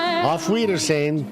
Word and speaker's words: Auf Wiedersehen: Auf Wiedersehen.